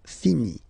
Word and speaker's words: finit: So it, final T not pronounced. Il, elle finit.